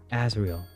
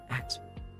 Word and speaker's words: Azrael: His name is Azrael. Azrael. There we go. I said it wrong. Azrael.